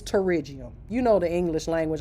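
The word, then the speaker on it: pterygium: How you pronounce it? It's terriium.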